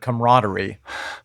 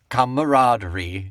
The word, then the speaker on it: camaraderie: One is I'm so baffled by Ian's pronunciation of the word camaraderie. Camaraderie. Camaraderie. He puts so many extra syllables in it. Well, I mean, he hits every one of the A's. We don't.